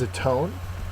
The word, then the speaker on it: atone: our first word is a tone a tone is a verb second syllable is accented it means to make